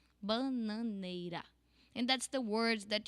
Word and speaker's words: bananeira: It's not like ra. It's ra. Only one roll of your tongue. Bananeira.